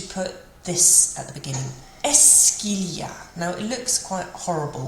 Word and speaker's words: est-ce qu'il y a: And it actually isn't too bad to pronounce. It's just esque. And when we've got the il y a coming next to it, it joins together and it sounds like est-ce qu'il y a.